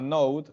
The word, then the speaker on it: Node: ejemplo hay una tecnología que se llama Note se escribe node su administrador de paquete